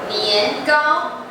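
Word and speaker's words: 年糕: In southern China, people usually have sticky rice cake, which sounds like yearly high, which means improvement. So can you read it? 年糕.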